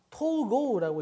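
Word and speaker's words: 統合: 통합. 토고라고 읽죠.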